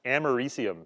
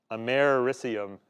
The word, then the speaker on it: americium: germanium, Germany, and americium is how you pronounce that, americium. So it's americium. I don't know. It doesn't kind of, it's not pronounced the way you might expect it to be.